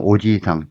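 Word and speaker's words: おじさん: 자 저 아저씨 나를 음융한 눈으로 보고 있어지상와다시오 이하라심에 대해 밑대로 우리가 또 아저씨 하면은 오지상 짧게 하면 되고요. 근데 만약에 오지상 길게 발음하면 할아버지가 되죠.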